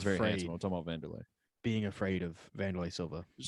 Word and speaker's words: Vanderlei: Vanderlei? Yeah. Why'd you say Wanderlei? I think that's how you spell it. Say it. That's how you spell it. It's not Brazilian. It's Vanderlei. Okay.